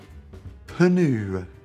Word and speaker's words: pneu: PNEU. Pneu. Pneu.